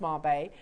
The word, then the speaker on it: Mabe: Marbe, pronounced Marbe, are the unique and beautiful alternative to a traditional pearl.